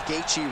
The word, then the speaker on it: Gaethje: there from Bruce Buffer he even pronounced gatei Right congratulations to Justin on